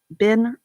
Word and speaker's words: Benartex: Phonetically, it is Benartex.